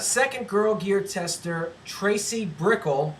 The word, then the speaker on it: Broeckel: Second Girl Gear tester, Tracy Broeckel. Rhymes with pickle, I'm told.